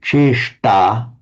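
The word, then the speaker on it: चेष्टा: So can you pronounce it cheshta, Chris? Cheshta. Cheshta. Cheshta. And that's the one with the tongue slightly curled back onto the hard palate that produces this sound, da, da, that we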